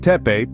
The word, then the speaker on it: Tepe: Göbekli Tepe, pronounced Göbekli Tepe, carries an intriguing meaning, belly hill.